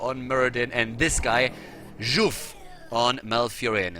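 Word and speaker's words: Żółw: Muradin, and this guy, Juf on Malfurion. Rutzov, it's how you write it, but apparently you pronounce it as Juf, and it means turtle, but only if you apparently misspell or mispronounce it.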